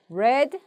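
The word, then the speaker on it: read: 그 거에요 이따위 그런데 과거는 레드 왜 더 라고 읽어야 이게 마치 빨간색 발음하는 것 처럼 그래 그래서 왜 이렇게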